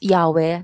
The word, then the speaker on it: Yahweh: and el-shaddai you should you should pronounce yahweh like yahweh but jesus don't do